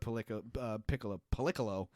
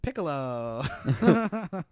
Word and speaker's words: Piccolo: now because of what political that's that's uh that's not how you say his name Piccolo good thing he trained